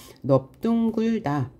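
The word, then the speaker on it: 넓둥글다: 넙둥굴다 역시 똑같아요. 리을을 장군 단순화 탈락시킨 다음에 비읍으로 발음하는데요. 비읍 다음에 예사소리가 연달아 나왔기 때문에 뒤에 있는 예사소리를 된소리로 발음해서 넙둥굴다 라고 발음하죠.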